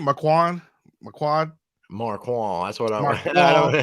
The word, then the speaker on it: Marquand: Marquand. Marquand. That's what I'm. Marquand. I know, right? It's Marquand. Yeah, I mean, Marquand, okay. I think the D is supposed to be kind of silent.